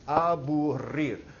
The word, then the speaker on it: aburrir: Aburrir. Say it for me. Aburrir. Roll your R's. Come on, you can do it.